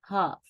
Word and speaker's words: half: عندنا دلوقتي the sound L. امتى ال L بتيجي silent ما بننطقهاش يبقى صوت صامت. عندنا أمثلة مع بعض نشوفها. عندي choke choke. اوكي. half half half half. talk talk. walk walk. yoke yoke. stoke stoke. wood wood. could folk folk.